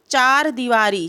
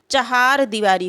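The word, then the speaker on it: चहारदीवारी: एक शब्द बनता है चार दीवारी चार दीवारी नहीं होता है जो शुद्ध शद होता है इसका शुद्ध उच्चारण जो होता है चहार दीवारी होता है क्या होता है चहा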